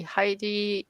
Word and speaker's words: Heidi: popular heidi i mean i say heidi but i don't know how you would pronounce her name hi decent right yeah heidi is right okay i'm not completely